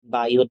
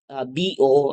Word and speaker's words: Biot: the the law of boo and sovar so remember This is not biot and savart this is law of bo and sovar so we have here